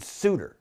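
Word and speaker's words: Souter: Elder gave us suder David suder or saer depending on how you want pronounce his name he's no longer on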